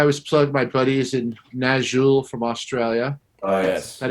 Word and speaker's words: Nazxul: Well, I mean, I always plug my buddies in Nazul from Australia. Oh, yes. That is spelled Nazxul.